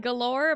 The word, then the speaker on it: galore: I had galore, but then I remembered you don't pronounce the e in galore.